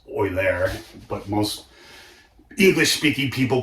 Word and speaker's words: Euler: And, in German, that's actually pronounced Euler, but most English-speaking people call it Euler.